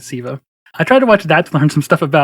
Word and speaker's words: Sceva: this forgive me because my entire life i've always pronounced it skiva which is wrong but it's it's black eyed siva i tried to watch